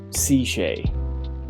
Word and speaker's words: CShay: Okay, so basically it's pronounced CShay, like the letter C and then Shay.